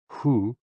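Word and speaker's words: hu: associated with the kidneys h-o-o pronounced like who which is associated with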